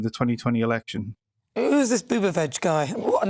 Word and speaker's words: Buttigieg: Who's this Buttigieg guy? What a name. Is that his name? Did you say Keith or Pete Buttigieg?